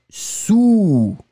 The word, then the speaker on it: sous: Encore une fois, le A très rond, ou, sous.